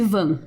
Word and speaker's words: Van: E se escreve V-A-N, como se fosse Van, mas em inglês, com o sotaque, fica Van.